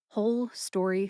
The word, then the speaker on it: Wholetory: Hole is spelled Whole. Whole story studio.